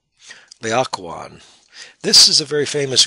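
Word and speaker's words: Laocoön: This word being even stranger in terms of an English word, it's pronounced Laocoon. Laocoon.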